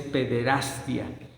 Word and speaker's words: pederastia: Sobre todo cuando se empezaron a dar a conocer los casos de pederastia, porque la pronunciación es pederastia, así es la pronunciación correcta, provocada por Marcial